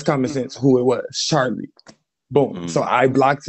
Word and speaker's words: Charli: It rhymes with Barley. Come on now, y'all. That's common sense who it was. Charli.